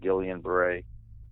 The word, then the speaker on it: Guillain-Barré: But the illness that I got, or that I have, is called Guillain-Barré syndrome. Some people pronounce it Guillain-Barré.